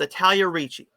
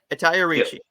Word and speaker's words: Italia Ricci: It's Italia Ricci. I said it right. Italia Ricci.